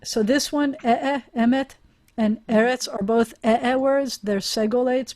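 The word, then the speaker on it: ארץ: have a segolate um the first syllable is always the accented syllable of the two as so eretz and they're going to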